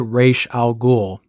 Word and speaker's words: Ra's al Ghul: And if the comic pronunciation wasn't enough, Denny, from all of the interviews and up until his final days, pronounced it Ra's al Ghul.